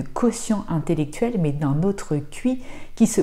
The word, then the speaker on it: qi: te parler de quotient intellectuel mais d'un autre cuit qui se prononce-t-il comme dans chi kong en fait traduit